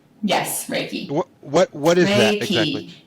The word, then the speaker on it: Reiki: a you're a medical Reiki master did I pronounce that right raiki yes raiki what what is that exactly what is that